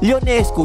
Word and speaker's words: Ionescu: Take note mga tol ha, letter I ang umpisa ng surname niya, hindi letter L ha. Ionescu, parang yung jowa ni Vice Ganda yung spelling no, Ionescu. Pero Ionescu yung bigkas.